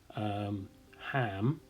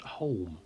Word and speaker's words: Holm: and it's in an area called Ham, which is actually spelt Holm. Yes, if you look on the maps and it's spelt like that, you say Ham. Not Holm, as I have been doing for quite some time.